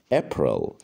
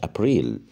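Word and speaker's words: April: مارش مارش مارتش مارس ابر ابر ابر مش ابريل ابر ماي ماي ماي شهر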